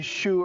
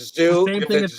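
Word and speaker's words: Xu: He said, if I come on air and you mispronounce my name, you ask if it's Zoo, or Shu. Is it Tony Zoo or is it Tony Shu?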